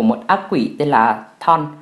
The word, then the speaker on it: Chthon: quỷ tên là Thon, lại phải đánh vần lại lần nữa là Chthon, nhưng mà cái âm CH trong tiếng Anh nó câm. Mình rất muốn đọc là Chthon hoặc Chthon bởi vì nghe nó hay hơn, nhưng mà thực sự cái tên này chỉ đọc là Thon thôi.